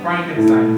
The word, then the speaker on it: Frankenstein: So, you want to build a Frankenstein monster? I believe it's pronounced Frankenstein. I have a feeling that we never really die.